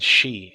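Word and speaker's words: 四: Japanese for God, and Shi is 4. 4 also has a special connotation in Japan, though. It's considered an unlucky number, because it's pronounced the same way as their word for death.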